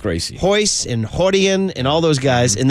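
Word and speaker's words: Rorion: They all start with an R, but they're pronounced with an H. Hoist Gracie. Hoist and Hodian and all those guys.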